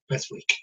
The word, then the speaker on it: Beswick: Pronunciation is Beswick.